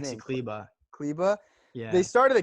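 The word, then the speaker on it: Maxi Kleber: Maxi Kleba.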